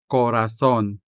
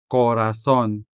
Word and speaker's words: corazón: These words are spelled with the letter o, and this o is sounded with the vowel o. The first word here is polo or a collared shirt. polo Next, corazón corazón to mean heart.